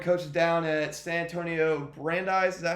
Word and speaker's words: Brandeis: Also, Coach is learning coaches down at San Antonio Brandeis. Is that how you pronounce Yep. it? Yep. Brandeis High School.